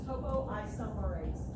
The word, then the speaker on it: topoisomerase: topoisomerase. Topo. It's spelled exactly like it sounds.